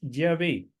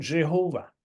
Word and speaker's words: Yahvé: El nombre de Dios en hebreo es Yahvé, pero los alemanes usan la J nuestra para pronunciar la letra Y, ¿entienden? La Y. Ellos no, la Y en alemán no suena así. Entonces, en alemán, ellos dirían Jehová, en alemán.